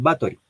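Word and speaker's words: Báthory: Que digamos se escribe como Elizabeth Bathory, pero que muchos la conocemos como Elizabeth Bathory.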